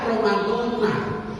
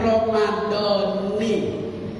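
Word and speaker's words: رمضان: Nawaitu saumawadin an adai parti syahri Ramadana, yang biasa orang baca Ramadana. Kalau belajar nahwu sama Kiai Haji Mahfuz bacanya Ramadoni. Ramadoni sah puasanya, Ramadona sah puasanya.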